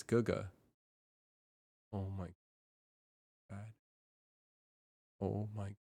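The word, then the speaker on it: 哥哥: I just pronounced that GG this whole time. It's Guga.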